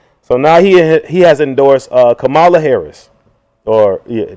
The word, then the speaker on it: Kamala: So now he has endorsed Kamala Harris. Or, yeah, you said Kamala or Kamala Harris. I think it's correctly pronounced Kamala.